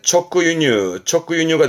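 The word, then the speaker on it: 直輸入: 수입인데, 수 발음은, 그렇죠. 유입니다. 발음은 초크유뉴입니다. 수 발음은 유르가요. 수입은 유뉴라서 직수입에 초크유뉴가 되겠습니다.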